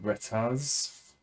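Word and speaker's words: Retas: Okay, so there's, I think the album's called Retaz.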